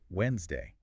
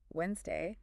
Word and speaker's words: Wednesday: All right, so to wrap up today, we've looked at 3 words that are often mispronounced. Yes, let's recap. Wednesday, which, remember, is Wednesday. Wednesday, Comfortable.